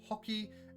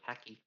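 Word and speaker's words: Haki: going to be adding hockey and maybe making some homebrew devil fruits. I can't believe they pronounce this hockey. Like a bloody Canadian. I thought it was hacky.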